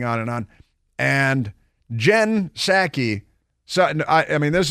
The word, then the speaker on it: Psaki: last night she says it's pronounced saki but there's a there's a p on the front wonder what happened when she gets pneumonia she what do you think but Jen saki last night was on